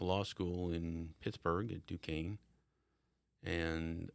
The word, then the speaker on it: Duquesne: Pittsburgh at Duquesne, and Not Duquesne's. Not Duquesne's. It's the Dukes, isn't it? It is the Dukes. But it's spelled like Duquesne's. It's- yeah. So if you're not in the know, Yeah. Got a Q in there.